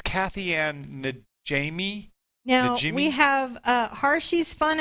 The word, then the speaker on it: Najimy: I had to look up how to say it because it's Kathy Ann Najimy.